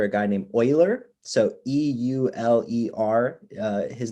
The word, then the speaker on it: Euler: it's named after a guy named euler so e-u-l-e-r his name was linhard euler that's how you pronounce that he lived in the 18th century